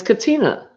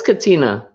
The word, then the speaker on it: Katina: It's Katina. No R, but it's okay. Everyone does that. It is Katina.